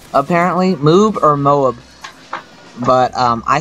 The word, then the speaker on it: MOAB: first of all everybody laughs at how I pronounce it um they say moob apparently moob or Moab but um I say Moab because that's what the commanders say they say uh Moab ready for your go or whatever so it's